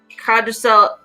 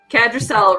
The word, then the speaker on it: Kadrell: it is it was like kadel cadel let me pronounce it correctly kadrell reached out and touched